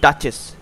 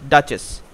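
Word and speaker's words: duchess: এখানে অ্যানসারটা আসবে হচ্ছে এটার উচ্চারণটা হবে ডাচেস ডি ইউ সি এইচ E double S ডাচেস next 50 দাগের কোশ্চেনে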